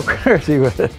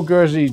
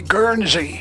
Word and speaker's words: Gherzi: I've heard a lot of people say Guernsey, and it's not Guernsey. I used to call it Guernsey, and I remember his wife saying, he's not a cow.